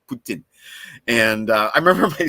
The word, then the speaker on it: poutine: no no no that's not Putin and it's pronounced Putin I should be saying correctly Putin and uh I remember my sister the first